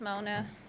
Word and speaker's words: Mona: you so much did i pronounce that correctly it's mona mona okay thank you all